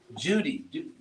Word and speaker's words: duty: do your duty so in England they actually pronounce it like this Judy do your duty oh so if you